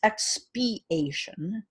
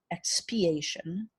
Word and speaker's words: expiation: it's I did not pronounce it correctly it's expiation expiation it's spelled for those of you that are listening